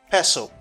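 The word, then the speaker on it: pestle: means vocabulary vocabulary this vocabulary is peso it has a silent T Liga peso what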